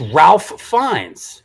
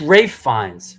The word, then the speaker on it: Ralph Fiennes: No, it's Ralph Fiennes. Oh, But pronounced Rafe Fiennes.